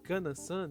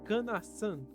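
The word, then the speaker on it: かなさん: jovem Mas fala que ele havia pronunciado can San de forma errada sendo o certo falar can San dando um enfoque no San e nisso descobrimos que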